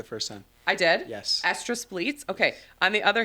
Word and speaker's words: estrus: I'm going to mispronounce this word. Estrus bleats. Estrus bleats. Estrus bleats. She said it perfect the first time. I did? Yes. Estrus bleats.